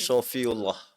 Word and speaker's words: Shafiullah: tulisan Safiullah, tapi di ejaknya ini kalau bahasa Arab pakai short. Jadi Oh, oke. Sofiullah.